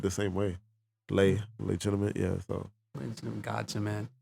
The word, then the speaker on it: Leigh: to each other but i lay dog l-e-i-g-h dot dog and then i got legitimate